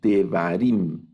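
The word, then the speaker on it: דברים: Por ejemplo, en esta palabra leemos Devarim. Devarim, está al inicio el Sheva. Entonces ahí lo vamos a leer, Devarim. Leemos el Sheva.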